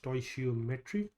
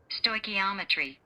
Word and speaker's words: stoichiometry: mean there was a time I used to pronounce this as totry but that's not how it's pronounced.